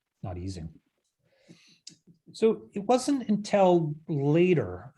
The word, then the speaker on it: Ising: At least here in North America, we almost universally mispronounce his name as Ising, not Ising.